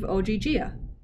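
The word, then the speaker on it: Ogygia: whatever you said oh gee gia the girl pronounced it slowly as if leo were five years old i want to leave oggia you said she exhaled clearly relieved good in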